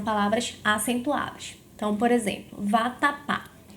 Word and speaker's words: vatapá: Então, por exemplo, vatapá. Em vatapá, a sílaba tônica é a sílaba pá.